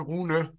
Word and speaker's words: Rune: The real pronunciation in Danish is actually Rune, but it's very hard for English speakers to pronounce that. So Rune is the best pronunciation, but don't worry about it.